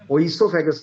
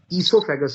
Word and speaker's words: oesophagus: Now spelling में फिर एक फर्क है, स्पेलिंग है OESOPHAGUS। सो यहां O साइलेंट, ओइसोफेगस नहीं है, ईसोफेगस है, O इज साइलेंट।